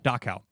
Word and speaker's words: Dachau: never pronounce this word, but Dachau or Dachau? Dachau. It's under the command of the nearby Dachau concentration camp. I say near, it's 90 miles away, but it's under command of Dachau.